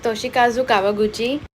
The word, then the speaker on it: Toshikazu Kawaguchi: Actually, I did pronounce it quite right. It is Toshikazu Kawaguchi.